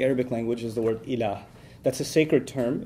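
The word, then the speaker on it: إله: When somebody converts to Islam or accepts Islam, then they say this phrase, this Arabic phrase, la ilaha illallah, in which there's the term ilah.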